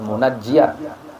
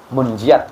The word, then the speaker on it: munjiat: ada baca selawat munjiat ada yang bilang membaca selawat munajjiat kalau kalau pasnya munjiat kebanyakan secara umum karena